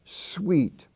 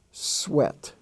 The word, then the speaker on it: sweat: ea rule for example s-e-s-w-e-a-t is not is not pronounced sweet it's pronounced sweat t-h-r-e-a-t is pronounced threat